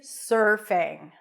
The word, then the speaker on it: surfing: pronounce the word surfing you start with an S sound then it's the as in stir so you transition directly from the s to the r sir sir sir like yes sir there